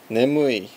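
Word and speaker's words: 眠い: Nemui means sleepy. Ne, mu, I. Pretty easy because it's pronunciations that exist in English as well.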